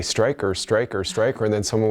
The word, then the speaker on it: Streicker: And it has a German spelling so often it's mispronounced as streaker.